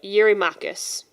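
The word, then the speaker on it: Eurymachus: My translation says that he's it's it's pronounced uh Yuri Makus.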